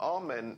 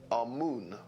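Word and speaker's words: Amun: important deities was amen now amen is the pronunciation that the hebrews give it and some scholars agree to use that pronunciation our moon is the pronunciation given to it by one of the old european scholars plutarch in the language of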